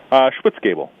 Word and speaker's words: Schwitzgebel: And am I pronouncing your name correctly? Schwitzgebel.